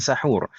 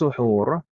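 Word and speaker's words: سحور: Kemudian ta'khirus suhur, ini sunnah yang kedua yang kita bahas kemarin. Kita membacanya as-suhur, suhur bukan sahur. Kalau sahur itu bahasa kita. Kalau bahasa Arabnya suhur.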